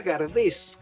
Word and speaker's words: Gardés: Claro, exactamente, una estatua muy linda, y Gardel, que se llamaba Gardés, con ese final, y se pronunciaba Gardé, y su madre se llama Berthe Gardé, o sea, Berta Gardés, españolizado.